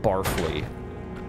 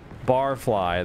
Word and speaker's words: Barfly: that old Barfly short Barfly I would have pronounced that barfle cuz he's he drinks a lot barfle Barfly though that makes more sense has something hidden inside